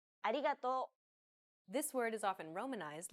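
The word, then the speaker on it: ありがとう: but don't be fooled this character isn't pronounced using an english r sound at all the it's like a mixture between an r and an l sound the there's no such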